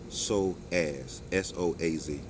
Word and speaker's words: psoas: If we have tight hip flexors, which is really our psoas muscle, PSOAS, pronounced SOAZ, it makes us have tight hips.